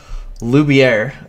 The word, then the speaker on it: Loubier: host Eric Sue and today we have Andrea luier did I pronounce that right you did good job all